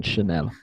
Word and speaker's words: Chanel: That's the proper pronunciation, Chanel.